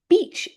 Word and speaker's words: beach: Now very careful little pronunciation point be very careful to always give the long e sound with the word beach. It is not the short vowel sound. It is very much the long vowel sound because if you